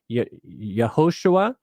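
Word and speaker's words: יהושע: So question number 4, Joshua's name means Jehovah's salvation is pronounced Yehoshua in Hebrew. Centuries later, the Hebrews shortened it to the name just Yeshua, which is also pronounced Ixus in the Greek.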